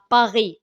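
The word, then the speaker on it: Paris: ضد باري سان جيرمان كما ينطق بالفرنسيه باغي نعم الين لا تنطق يعني المواجهه واضحه رايحه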